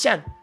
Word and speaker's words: Shen: No, Shen. It's Shen. Freaking Shen.